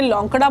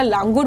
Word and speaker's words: लांगुर: इसमें लांगुर जो होता है कई जगह इसके प्रोनाउंसिएशन में लौंकड़ा बोलते हैं। कई जगह लांगुर बोलते हैं।